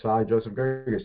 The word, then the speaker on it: Saad Joseph Gerges: let alone my name, because most people can't pronounce my name, Saad Joseph Gerges.